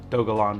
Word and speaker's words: Dogelon: today i'm gonna be reviewing dogalon mars for those of you wondering yes that is actually how it is pronounced and this is indeed